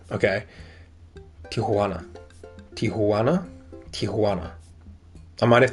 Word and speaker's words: Tijuana: I hate when people pronounce it as tana. Okay. Tijuana.